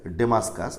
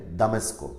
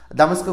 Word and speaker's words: দামেস্ক: কথা বলি এখানে উচ্চারণটা যদি এভাবেই লেখা আছে ডেমাসকাস একচুয়ালি কিন্তু এখন এটার উচ্চারণ মোটেই করে না ডেমাসকাসের একচুি উচ্চারণটা হচ্ছে এরকম এখন যেভাবে করে সেটা হচ্ছে দামেস্কো দামেস্কো কোথায় সিরিয়ার রাজধানী এটাকে বলা হয় দামেস্কো তার